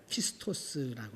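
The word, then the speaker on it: πιστός: 헬라어로 보면 피스토라고 하는 말입니다. 따라합시다. 피스토. 그 쉬운 거니까 한번 이렇게에 발음을 해 보는 것도 좋아요.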